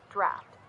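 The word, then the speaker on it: draught: In both American and British English, draft is pronounced exactly like draft. Rhymes with laugh or craft.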